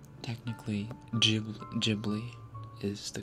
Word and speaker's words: Ghibli: Which one is correct? Ghibli with the Gabriel sound, or Ghibli with the G for gender? Technically, Ghibli is the correct pronunciation.